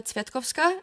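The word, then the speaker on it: Cvetkovska: please go ahead hello my name is tetova uh that's m a r i j a and my last name is spelled cve t k o vs k a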